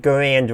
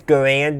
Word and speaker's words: Garand: And he says Garand, not Garand. No, he says Garand, not Garand. One is how most people pronounced it, and one is how the developer of the rifle pronounced his own last name, which is where the name comes from.